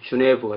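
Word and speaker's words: Genève: 예를 들자면 취리히가 어디에 있는지, 또 제네바가 어디에 있는지, 제네바는 이제 불어 발음으로 하면 주네브가 되죠. 주네브.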